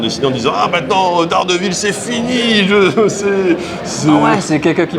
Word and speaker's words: Daredevil: Moi, je me souviens du personnage de Daredevil, enfin à l'anglaise, on prononce ça Daredevil.